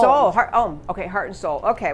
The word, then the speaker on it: Soule: Soule, heart and soul. Soule, okay, heart and soul.